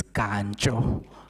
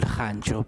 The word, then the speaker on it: Kanjo: pronunciation of my surname it's kanjo not honjo please it's a corrected one and